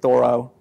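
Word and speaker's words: Thoreau: inspired by this guy Henry David thoro as I was told to pronounce his last name this quote I've always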